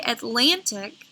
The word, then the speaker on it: Atlantic: Now, when I say Atlantic, I put more emphasis in the middle. So that is the accented syllable.